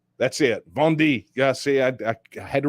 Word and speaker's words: Vendée: Auclair there at the Catholic University of, Vendée. That's it. Vendée. Yeah, see, I had to remember how to pronounce it.